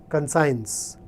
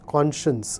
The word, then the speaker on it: conscience: on lant top and when he pronounced this word he called it consigns and I can understand here we come from small places whatever we hear others say we tend to repeat it but it's conscience an Atma the tiny